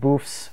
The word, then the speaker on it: Boeff: a look at David boof's work David I've never heard you say your last name so I'm going to go with what I'm considering the French pronunciation of your last name you let me know